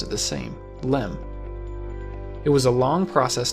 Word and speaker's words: LM: originally called the lunar Excursion module or just Lim eventually the word Excursion was dropped from the acronym but everyone still pronounced it the same LM it was a long process to get this